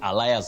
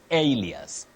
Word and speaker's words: alias: allias allias w Betty allias so and so but you don't say allias you say Alias Alias so and so